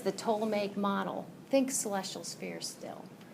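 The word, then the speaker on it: Ptolemaic: whenever somebody says the to make model think celestial sphere still toic model still puts the toic model I know they pronounce it PT the toic model that p is silent the to make model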